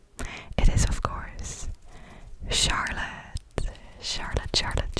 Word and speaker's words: Charlotte: Next is another girl's name, and this one has also multiple pronunciations, because I know it's pronounced different in Dutch, for example, than it is in English.